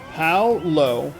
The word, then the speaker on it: Paolo: Paolo, like POW, like a POW block from Mario.